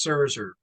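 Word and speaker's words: Szczur: for you yes z c z u r pronounced server um he played from 2014 through 2017 so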